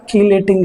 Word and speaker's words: chelating: Chelating ligands. Chelating or keylating ligands. Chelating or keylating. Both are same pronunciation.